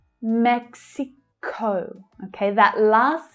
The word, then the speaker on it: Mexico: Mexico. Watch out for the consonant cluster here in the English pronunciation. You have k, s, x, mex, Mexico.